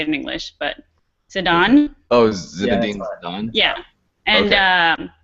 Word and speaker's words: Zidane: I don't know how you say it in English, but Zidane.